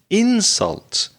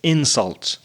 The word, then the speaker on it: insult: shifting or changing stress the noun again stress the first syllable insult the salary you are offering me is a complete insult i'm insulted by your offer so the verb is insult i won't insult you